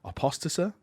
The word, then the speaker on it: apostasy: word because my brain doesn't say it right apostasy there we go oh aka the Terran Crusades